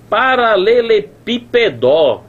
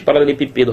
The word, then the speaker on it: paralelepípedo: paralelepipedo né não existe paralelepípedo rapaz onde é que tá essa sílaba tônica pelo amor de Deus tá aqui ó paralelepípedo ó pípedo ó destaca aqui tá na antepenúltima sílaba e não pode est